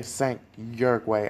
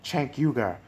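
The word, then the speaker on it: Cenk Uygur: i'm forgive me enough if i say sank your way i always pronounce that incorrectly but it sank chankyuga um he debated chankyugar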